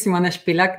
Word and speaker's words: Simona Spilak: the full name yeah my name is simone spilak that's the correct pronunciation but it's hard really